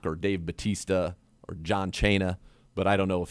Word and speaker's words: Cena: Do you say Chena? Yeah, that's how Santino Marella used to say his name. He would mispronounce everybody's names on purpose.